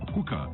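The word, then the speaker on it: Huca: Hookah is spelled H-U-C-A.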